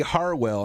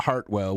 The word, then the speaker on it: Harwell: And that's Tracy Harwell, not Hartwell. We, if you're watching the playback of this, there's no T in it.